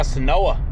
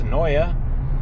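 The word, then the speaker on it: Senoia: out The Walking Dead, swing by Senoa, as we say it around here, pronounced Soya, if you're not from around here.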